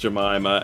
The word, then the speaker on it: Jemima: Yes, it is pronounced Jemima, and that's a long story steeped in the sordid history of American racism and slavery as to what happened there.